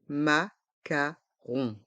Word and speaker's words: macarons: Des macarons. Des macarons. Les lettres O et N font le son on, rond, et le S est muet. Des macarons.